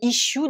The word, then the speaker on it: issue: juste sur l'aspect prononciation, vous avez les deux S là qui se prononcent comme le son ch français, et ensuite le U qui se prononce you, ce qui est normal puisque c'est le son de l'alphabet anglais pour la lettre U.